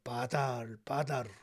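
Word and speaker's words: בָּדַל: 그리고 나누다 이 말은 히브리 말로 바달 이렇게 발음이 되는데요.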